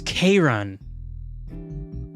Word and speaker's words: Charon: It's Charon. Oh my god, it sounds like Karen.